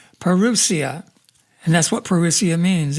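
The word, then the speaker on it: parousia: We're going to start pronouncing that correctly. is not perilous, perusia.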